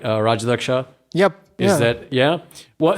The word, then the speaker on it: Rajadhyaksha: assume i've said your last name correctly uh rajalaksha yep is that yeah well so but the